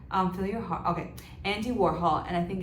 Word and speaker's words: Warhol: It's Warhol, actually. Hole. It's hole. As in holes.